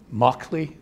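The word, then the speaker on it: Mauchly: And I never remember their names, so I have to always look at I'm not even sure how it's pronounced, Moakley or Moshley, if any of the computer scientists, Moakley, thank you, and Eckert.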